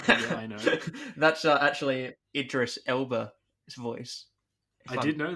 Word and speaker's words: Idris Elba: was a terrible accent I know that's actually Idris Elba his voice I didn't know that yeah am I pronouncing that correctly address Idris Elba yeah yeah